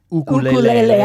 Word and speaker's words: ukulele: that's his myque he also seems like a ukulele guy oh yes absolutely which is pronounced ukulele I was just going to say and he